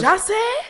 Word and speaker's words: Jussie: Jussie?